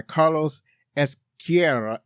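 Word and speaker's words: Ezquerra: It's that, in Spanish, you got to roll your R's in Spanish. So when you got two R's together, you really got to roll them.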